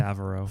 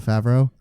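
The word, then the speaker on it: Favreau: enjoy John John Fara far how do you pronounce his last name favro favro he's great he's a great director too he's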